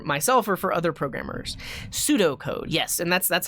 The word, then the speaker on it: pseudocode: are comments for myself or for other programmers pseudo code yes and that's that's how you would spell it not s-u-d-o p-s-e-u-d-o like pseudo-science but pseudocode